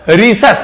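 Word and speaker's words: Rhesus: ये पूरी स्पेलिंग बताई, RHEESAS मतलब रीसस। ये किसका नाम है? एक बंदर का। गौर से सुनना, RH नाम कहां से निकाला है? रीसस से।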